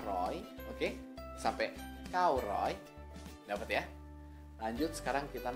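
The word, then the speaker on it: ร้อย: Ini aksaranya terdiri dari Rora, Sara, O, Yoya. Dibacanya Roy, dikasih Maito. Jadinya Roy, Roy, Roy. Nadanya siang, tri.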